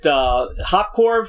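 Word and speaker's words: Hoppkorv: choice yellow fever and is it hot core is that how you pronounce it yeah and of course those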